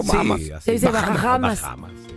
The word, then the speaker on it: Bahamas: ¿Cómo se dice? ¿Bahamas o Bahamas?